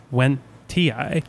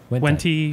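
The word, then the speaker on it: wendtii: I was about to say, like, I think the technical way to pronounce it is Wentii. Yeah. But everyone says Wentai.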